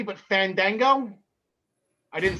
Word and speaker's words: Fandango: i might not be saying this correctly but fandango i didn't say it correctly no you didn't so he's not going to wrestle um no you're right i i don't think it's fondango but i i think he got hurt again